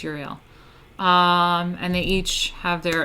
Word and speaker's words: Uriel: So there's like Michael, Gabriel, Raphael, and I never know how to say his name either. Uriel? It's like Uriel? Uriel. I think it's Uriel.